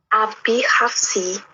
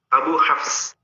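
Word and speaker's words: أبو حفص: Atau Abi Hafs boleh. Tapi ketika tidak didahului dengan sesuatu dalam kaidah bahasa Arabnya, tetap bacanya Abu. Abu Hafs. Sama-sama betul, hanya ini pembacaan dalam kaidah nahwunya saja.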